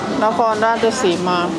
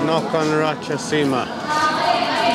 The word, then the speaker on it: Nakhon Ratchasima: Nakhon Ratchasima. Huh? Nakhon Ratchasima. Nakhon Ratchasima.